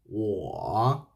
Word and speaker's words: 我: There is a U plus a O will be U, O, or with third tongue. 我 Let me hear your voice. 我 So in pinyin, if